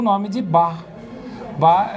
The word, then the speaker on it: Bach: Bar se pronuncia como se fosse um carioca dizendo a palavra bar.